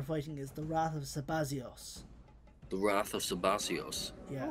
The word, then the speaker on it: Sabazios: If you want to read in the rather particularly antiquated pronunciation of Zeta. Because Zeta used to sound more like a Z before it eventually became to just turn into a Z.